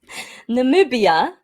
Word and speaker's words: Namibia: You pronounce it. Go ahead, Jodie. Tell me. Namibia, Namibia.